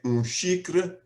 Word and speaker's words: xícara: tea, I would say xícara de chá. Now, xícara is spelled X-I-K-R-A, with the X having an SH sound.